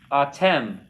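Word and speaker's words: אתם: Okay, the next one is atem. Accent on the last syllable.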